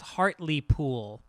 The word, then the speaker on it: Hartlepool: Hartlepool is pronounced Hartley Pool.